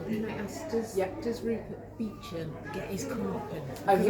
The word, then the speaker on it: Beecham: There's a bit in the book where Rupert Beecham, so that's pronounced the kind of the actual way.